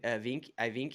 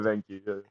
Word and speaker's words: Evenki: Yeah, now So well, it's def- dude, when you were living remotely with the it's a Vinky, am I saying it right? Evenki, yeah, the Yeah.